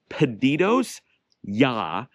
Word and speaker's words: Pedidos Ya: It's Pedidos Ya, but we pronounce it Pedidos Ya.